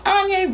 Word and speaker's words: Anja: to my channel my name is Anja rhymes with damned I'm gonna figure out